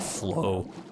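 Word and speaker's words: floe: what a funny word flow lag FL OE FL o w even though it's pronounced the exact same not as funny of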